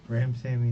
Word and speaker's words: Ramsawmy: talking to Mr Joshua how do you say your last name Ram Sammy the W Sammy okay all right um